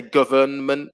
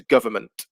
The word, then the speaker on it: government: uh for number two n is the silent letter government yeah we don't say government it'll be very difficult in english we don't tend to pronounce together so the nu disappears it becomes government number three chocolate so